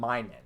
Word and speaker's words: Minun: my name yeah okay so it is Plusle and minun okay so I've just been saying it wrong for the capaz [